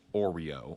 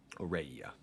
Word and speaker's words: Aureia: And so now, if I'm not mistaken, I could actually start getting marching towards Oreo or Aureia. Aureia is actually how you pronounce that.